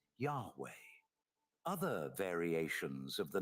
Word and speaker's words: Yahweh: it's translated into YHW, which properly pronouncing his name as Yah-O or Ye-O, which is literally the god the Israelites worshipped, later being pronounced as Yahweh.